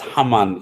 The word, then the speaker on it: Haman: Okay, it's Haman in Arabic, Haman, and in Egypt, in the hieroglyphs, the pronunciation is Kheteb, because he puts a dot underneath the H, which would make it a hard H, which is a Khe.